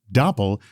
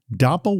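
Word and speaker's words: Doppel: Dapple is the AI native social engineering defense platform fighting back against impersonation and manipulation.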